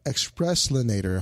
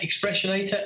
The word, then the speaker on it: Expressionator: uh you got the the express linator hopefully I pronounced that that right yeah expressionator absolutely so again this was